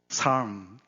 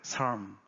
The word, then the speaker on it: 삶: 삶. 발음 한번 해보세요. 삶. 미음 발음이 더 많이 나와요.